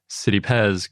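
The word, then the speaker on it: Citipes: lord and that's from a sanskrit terminology whereas city pez comes from a latin terminology so it's kind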